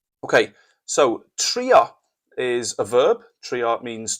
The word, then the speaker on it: trio: Trio, it sounds a bit like the English.